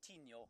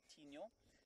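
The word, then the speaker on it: Tinyo: Then the third one, of course, is Tino, the tooth.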